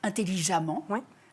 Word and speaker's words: intelligemment: Eh bien, si on entend le son A, sachez qu'il faut toujours deux M. Même si c'est un E qu'on écrit, comme dans intelligemment. Intelligemment, c'est s'écrit avec un E, parce que intelligent s'écrit avec un E. Mais comme on entend le A, il faut deux M.